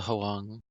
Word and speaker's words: Huang: Bill Huang. Huang. The H is silent.